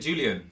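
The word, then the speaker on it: Jolyon: party you pronounce it Julian it's Julian it is actually Julian it's Julian spelled in a funny way I prefer I prefer saying Jolan it's so coded you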